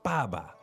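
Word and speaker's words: 爸爸: um like for example the word Baba like that ba is a fourth tone you want to get that right um but when you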